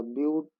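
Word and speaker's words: but: चार कार्बन है तो हो जाएगा हमारा ब्यूट। इंग्लिश में इसको बट बोलते हैं, केमिस्ट्री में ब्यूट बोलते हैं, लेकिन स्पेलिंग एक ही है, तो हम ब्यूट ही पढ़ेंगे क्योंकि हम केमिस्ट्री पढ़ रहे हैं यहाँ पे।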